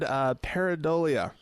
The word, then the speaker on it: pareidolia: The word pareidolia, which I struggled with the pronunciation of.